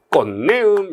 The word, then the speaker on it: 꽃내음: 꽃하고 내음이 있는데, 꽃 할 때 디귿 발음 나죠. 내음 요로 끝나지 않고 디귿과 니은이 만나면요, 비음화가 벌어져서 꽃내음 이렇게 발음 나죠.